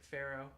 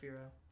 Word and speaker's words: Fearow: Fearow is a combination of fear and sparrow. Okay. Or arrow. I used to pronounce it Pharaoh instead of Fearow.